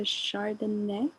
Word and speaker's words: Chardonnay: popcorn it over to chardonnay thank you noor yeah that's how you pronounce it just like the wine i'm super excited to